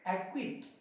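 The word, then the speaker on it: acquit: अब देखिए क्यू से पहले, ये रहा क्यू, इससे पहले आया सी, चुप कर दो। एक्विट, एक्विट।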